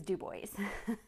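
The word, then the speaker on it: Dubois: that's D du right for us it was do boys so I just am always like I don't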